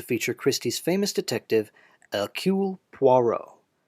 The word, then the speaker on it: Poirot: it was the fourteenth novel to feature christie's famous detective akul poirot please note it's pronounced poirot not perot this is perrault this is poirot french